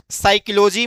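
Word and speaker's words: psychology: सभी को बता दें साइकोलॉजी में पी साइलेंट है क्या है जो पी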